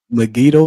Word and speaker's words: Megiddo: Dan and she's from, let me try to pronounce this right. Megiddo. That's right. Megiddo station.